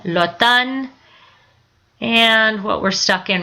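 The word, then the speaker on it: automne: and the warm weather Lan fall Autumn the French when they pronounce it the m is silent but they say the N Lan and what we're stuck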